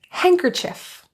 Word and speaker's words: handkerchief: When you see that happen, typically the D is silent. Here are some examples of the silent D. Handsome. Wednesday. Handkerchief.